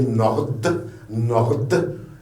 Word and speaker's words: Nord: M comme Martha, N comme Nord, vous voyez Nord, il y a un D à la fin, vous la prononcez Nord.